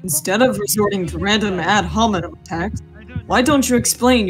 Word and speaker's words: ad hominem: The pronunciation is ad hominem.